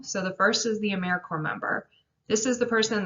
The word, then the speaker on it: AmeriCorps: s on the end it's pronounced americorps like core of the earth or marine corps a service night is